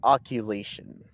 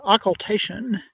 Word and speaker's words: occultation: answer joe uh define oculation it's pronounced yeah it's an occultation i believe this house